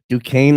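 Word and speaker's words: Duquesne: for last next one du Kane I believe is how you say it versus Illinois I mean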